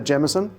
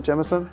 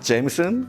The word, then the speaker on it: Jameson: geson for me yeah it's a gson I just a jeson absolutely yeah not Jameson yeah but I think there's